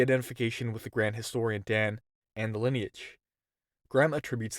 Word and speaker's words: Dan: the historian's name was dan pronounced just the same as lao dan laos seizing on this